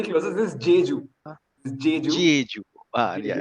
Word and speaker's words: Jeju: Chegu or something like that. I don't know. Okay. Chegu or something. No, Passing to Prasanth. Passing to Rajeev. Passing. Gilles. Pass. Shamanta was almost phonetically closer. This is Jeju.